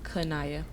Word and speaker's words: Qineya: know it's real unique so how do you like pronounce it my name is kanaya okay so whit doesn't